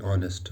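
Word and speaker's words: honest: For example, Rashid is एन ऑनेस्ट बॉय। अब ऑनेस्ट एच से start होता है, फिर इसका जो स्पेलिंग है ये एच से स्टार्ट होते हैं, लेकिन इसमें जो साउंड होती है ये वावेल साउंड होती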